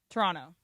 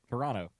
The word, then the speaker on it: Toronto: Toronto. Um, Brian, say it. Toronto. Okay. Brian and Emily said it correctly. Mace did not say it wrong. Why? You don't pronounce the second T.